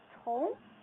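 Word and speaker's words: 同: The word is Tong.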